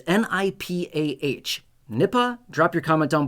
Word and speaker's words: Nipah: All right, so this is called Nipah virus. Maybe I'm pronouncing it incorrectly. It's n i p a h.